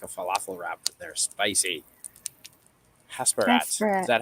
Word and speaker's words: Hasperat: Hasperat. Is that how you pronounce it?